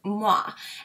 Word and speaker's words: Muwae: her company's name is moi and it actually spells like this m-u-w-a-e but pronounce Moi like you're kissing and their motto or